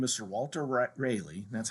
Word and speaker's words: Raleigh: rich nobleman by the name of sir walter rayleigh that's how you actually pronounce his name i know we all saw you say raleigh but it's a really is actually how you